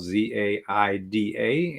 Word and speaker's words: Zaida: Her name is spelled Z-A-I-D-A, and she says most people tend to pronounce it Zaida, and she's fine